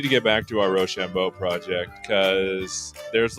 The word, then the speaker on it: roshambo: yeah I mean uh roshambo is our it's our it's how we pronounce it here on the AI show roshambo okay well I've